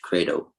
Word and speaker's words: Credo: In Latin, it will be pronounced Credo.